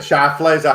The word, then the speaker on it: Schlafly: - Like Phyllis Schlafly. Is that how you say it, the Cate Blanchett character? - Yeah Schlafly, Schlafly.